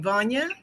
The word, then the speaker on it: Vana: what uh uh Dr how do you say your name Vana van like Kanye okay and that's what